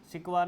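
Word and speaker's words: Sequoia: आई ए ओया तो इसे सिकवा पढ़ा जाता है म नॉर्मली सिकवा पढ़ते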